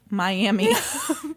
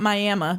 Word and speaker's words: Miami: It is, in fact, pronounced Miami, not Miami, because it's not fucking Oklahoma.